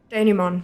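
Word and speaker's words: dénouement: Pronounce. Not American. Denouement. Denouement, right, of course.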